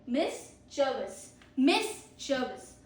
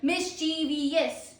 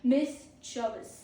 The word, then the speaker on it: mischievous: Pro tip, only 3 syllables, not 4. आप जिसे pronounce करते हो वैसे मत प्रोनाउंस कीजिए. आप कहते हैं ना mischievous, don't say it like that. Say mischievous.